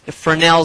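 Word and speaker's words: Fresnel: spelled f r s n l but it's pronounced Fel Zone and within this Fel zone is there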